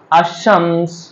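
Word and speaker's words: الشمس: এখানে ওয়াশামস আশ-শামসে কিন্তু লামটা উচ্চারণ করিনি।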